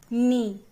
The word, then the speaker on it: knee: K N double E means knee. Children, K N double E. Here K is silent.